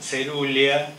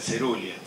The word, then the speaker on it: coerulea: Coeruleo, cerulia, se dice, entonces Celogyne viene de coelogine. Coeruleas, vieron que se dicen cerulia.